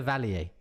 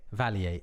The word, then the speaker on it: Vallier: it would be more correct, particularly if you were trying to pronounce it the French way that it was intended. At some point, it got Americanized and it became Vallier.